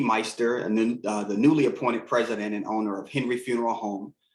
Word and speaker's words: Myster: little older, Mister, but it's not Mister, it's Myster. But either way, we make sure he he is addressed properly.